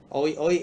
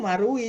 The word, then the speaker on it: Marui: Oi oi kan kan kan kelihatannya kayak oi oi ya bacanya. Tapi ternyata dibacanya tuh Marui gitu loh.